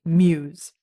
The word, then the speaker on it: μ’s: I have a little bit of assistance here saying pronounced Muse.